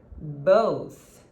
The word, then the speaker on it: both: want you to practice the word both bows okay it's the same pronunciation as go sorry oh would you